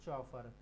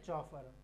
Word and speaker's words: chauffeur: हिंदी में कहते हैं मोटर चालक, इंग्लिश में कहते हैं चॉफर। इसकी स्पेलिंग याद रखनी है, CHAUFFEUR, ठीक है, चॉफर, ड्राइवर, कैब ड्राइवर।